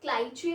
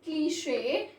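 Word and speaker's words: cliché: But people mispronounce this word as cliche or cliche. But cliche is the correct pronunciation to this word.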